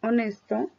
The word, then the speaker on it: honest: señalar se dan cuenta que la H no la lleva nos lleva al símbolo porque no se va a escuchar como la palabra heavy que está Arribita ahí Si suena la H y en la palabra honest no Cómo se pronuncia este